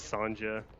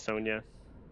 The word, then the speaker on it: Sonia: He says Sanja when it's Sonia.